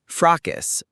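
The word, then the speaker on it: fracas: Frackus.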